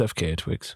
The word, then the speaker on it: FKA twigs: did you did you enjoy that it was FKA twigs I don't even know who that is neither do I I was gonna ask if that's how you say her name yeah it's FK twig okay she was her actual name is Talia